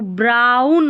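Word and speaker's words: brown: यहाँ पर बीच में आ रहा है ओ डब्ल्यू, तो आउ करके पढ़ते हैं ज़्यादातर, तो ब्राउन हो गया, एन है ना लास्ट में, तो ब्राउन हो गया।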